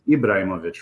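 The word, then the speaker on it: Ibrahimović: believe that is Zlatan ibraimovic I believe is this how we pronounce his name yes okay it's Ibrahimovic right um but yeah I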